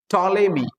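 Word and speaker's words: Ptolemy: ঠিক তেমনি পি টি ও এল ই এম ওয়াই উচ্চারণ কি টলেমি কিন্তু পিটা সাইলেন্ট যেমন আবার বলছি টি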